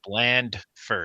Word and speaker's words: Blandford: It's Blandford. Oh, you gotta my pronounce gosh. the D.